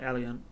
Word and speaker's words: Eleint: that, but I say it like Eleint.